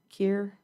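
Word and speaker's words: Kear: No, it's like tier Kir. Trying to make sure I say her name correctly. K E A R.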